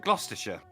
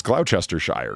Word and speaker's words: Gloucestershire: yeah right and i heard somebody say gloucestershire but like how you're supposed to say it right gloucestershire they said it even shorter than you it was like it was like closure like it was just like somehow i was like holy is that how you say that because it's it's cloud chester shire when you read it it's it's true sinatra